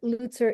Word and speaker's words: Lutzer: I've said your name wrong for so many years. I apologize. It's Dr. That's Lutzer.